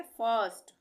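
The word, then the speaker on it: first: आई ये कंसोनेंट है कंसोनेंट के बाद आई आर और फिर कंसोनेंट है एस तो यहां पर भी इसको हम क्या पढ़ेंगे फर्स्ट फर्स्ट अ का उच्चारण आ रहा है उसी तरह से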